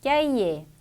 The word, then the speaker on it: cahier: 단어 끝에 위치하는 R는 발음이 되기도 하고 안 되기도 합니다. 그래서 발음이 되는 경우를 체크해 주면 되겠네요. 1번 dîner, 2번 hiver, 자 발음이 되죠. 답은 나왔고 3번 cahier, 4번 janvier, 5번 étranger, 발음되지 않습니다.